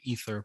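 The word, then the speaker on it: Either: phantom spotlight team representing the ether podcast that is e-i-t-h-e-r we didn't spell it wrong the eye is silent all right uh and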